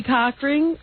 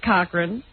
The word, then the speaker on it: Cochran: Trader she describe Johnny coching Cochran coching Cochran that is the pronunciation no it's Cochran coching Johnny Cochran as